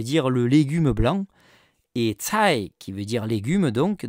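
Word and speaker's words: 菜: Et cai, qui veut dire légume, donc, dans le mot chou chinois, c'est homophone, même prononciation que le mot richesse.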